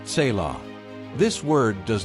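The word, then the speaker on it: צלע: That word is tzilah, pronounced tselah.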